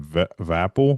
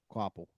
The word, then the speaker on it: Hocevar: Um and I can't Is it Carson Vaple? Is that what it is? Um Quaple. Quaple, yeah. The V silent.